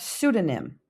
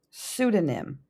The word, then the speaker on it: pseudonym: Then we have pseudonym. Pseudonym. Notice the P is silent.